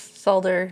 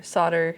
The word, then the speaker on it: solder: yes of course yes solder solder that's that's my understanding is both those pronunciations are correct depending on your region I'm pretty sure uh